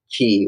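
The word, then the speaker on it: kī: Okay, in Hawaiian it's actually ki, which is K-I.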